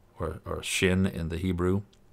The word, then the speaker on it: shin: over that's called a shin or shin in the Hebrew it's pronounced like Shh like it's shy Shh sha'alu shalom yerushalayim